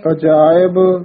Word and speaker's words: अजायब: सदा सचदानंद सत्रंग प्रणासी करीमुल कुनिंदा समस्तुल निवासी अजायब विपूते गजायब गनीमे अजायब गजायब इसी तरह ही उच्चारण करना है। अजायब गजायब नहीं करना, अजायब विपूते गजायब गनीमे हरियं करियं करीमुल रहीमे।